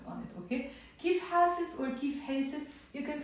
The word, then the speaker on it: كيف حاسس: So, كيف حاسس. I said حاسس, but you can also pronounce كيف حاسس with the A sound.